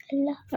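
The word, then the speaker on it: الله: अलफ तो साइलेंट है। बिल्कुल साइलेंट है। लाम भी साइलेंट है। नहीं इटसेल्फ ये वर्ड कौन सा है? अल्लाह।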